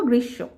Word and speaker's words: গ্রীষ্ম: কিন্তু আমরা এটা উচ্চারণ করব গ্রীশব।